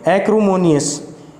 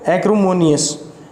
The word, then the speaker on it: acrimonious: तो इसकी प्रोनाउंसिएशन क्या होगी, एक्रोमोनियस। क्या बोलेंगे इसको, एक्रोमोनियस, ACRIMONIOUS, एक्रोमोनियस।